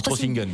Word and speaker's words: Trossingen: Vous avez même prévu un petit périple de 430 km à l'automne jusqu'à Trossingen. Je ne sais pas si je le prononce bien. On dit Trossingen. Trossingen, c'est plus allemand, oui.